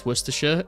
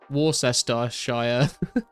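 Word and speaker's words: Worcestershire: Dude, hearing Americans try and pronounce Worersha is quite possibly one of the funniest things I've seen on the internet. They always say like uh Warester Shshire don't get baked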